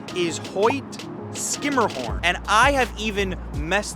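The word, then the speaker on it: Hoyt–Schermerhorn: If you said Hoyt Schermerhorn, you would be incorrect. The proper pronunciation is Hoyt Skimmerhorn, and I have even messed that up on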